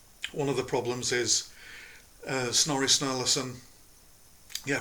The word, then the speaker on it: Snorri Sturluson: But one of the problems is Snorri Sturluson. Yeah, I pronounced his name right.